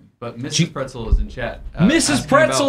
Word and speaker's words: Praetzel: This uh and so it's it is pronounced pretzel.